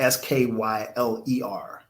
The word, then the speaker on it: Skyler: And her name is spelled Skyler. So it's like Kyle with a S and an R. So it's not spelled Skylar. It's Skyler.